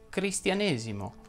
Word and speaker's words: cristianesimo: cambia tutto ed infatti le parole che terminano in esimo ma non sono numerali vanno pronunciate con la è chiusa si dice battesimo protestantesimo cristianesimo e così via una sola parola fa